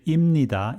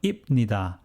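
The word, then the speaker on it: 입니다: pachim at ip but when you pronounce it at normal speed you say imnida instead of ipnida that's because when pupachim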